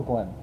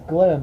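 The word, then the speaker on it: Glyn: do you spell it g l y n yep that's also Glenn but that's Glenn like in in Wales okay how about this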